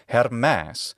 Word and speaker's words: Hermes: Latin and In classical attic his name is hermas or her in the modern Greek pronunciation we don't know where Hermes came from